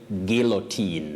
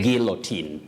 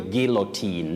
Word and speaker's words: guillotine: Letter U is silent in that word. Letter U is not pronounced, just like in the word guilt. But you say guillotine. Okay. Guillotine. To be sent to the guillotine, not guillotine, not guillotine.